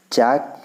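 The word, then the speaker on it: chalk: चाक, चाक में L silent है, चाक के साथ लिखा है फॉक, फॉक में एल देखिए यहाँ भी साइलेंट है।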